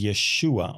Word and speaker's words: Yeshua: And it says Yeshua on it, which was the right spelling and the right pronunciation of Jesus' name in Hebrew.